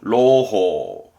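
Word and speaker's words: 朗報: 발음은 로호, 낭보.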